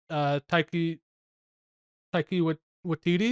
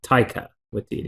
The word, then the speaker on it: Taika Waititi: point one of the Taiki Watiti, is that how you pronounce it? Yeah, Taika Waititi Taika. is Taika, okay.